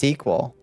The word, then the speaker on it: SQL: It's pronounced SQL. I've always called it squirrel.